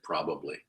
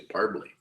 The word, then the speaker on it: probably: Or I should say probably. I quite often drop that syllable out of probably. You guys do that? Probably. My mother used to say parbly.